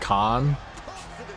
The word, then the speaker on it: Kahan: He's a folk indie artist and it's just pronounced Khan.